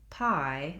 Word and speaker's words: pie: That's because the I is a diphthong, which means it's a vowel sound that glides between two positions. So we have other sounds like E and ah, where we just have one position. When we're saying pie, we have to slide and move on that I sound.